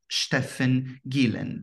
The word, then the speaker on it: Steffen Gielen: today I have the pleasure of interviewing Dr Stefan Gillen did I pronounce it correctly yes that's right thank you